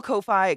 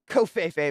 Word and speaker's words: Ko-fi: Kofefe, my god. To some. I suspect it's pronounced like coffee because I see a lot of people shout it out by saying, buy me a coffee.